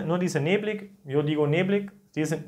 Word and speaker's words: neblig: En algunas regiones también la gente dice, no dice neblig, yo digo neblig, dicen neblig, ¿no? A veces IG se pronuncia como sh, ¿no?